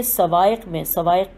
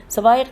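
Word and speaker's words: الصواعق: اور ابن حجر نے سوائق کی ہجے ہے صاد واو الف عین قاف۔ سوائق میں نقل کیا ہے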